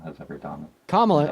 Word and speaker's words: Kamala Harris: The actual worst thing that Kamala has ever done. Kamala is how you pronounce her name.